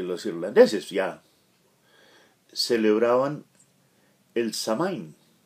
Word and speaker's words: Samhain: los irlandeses celebraban el samhain yo lo pronunció tal como los leo creo que la pronunciación original es algo así como soul en resumen era el